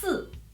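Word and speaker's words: 四: like this number because it pronounced Su it sounds like in Chinese so that's another good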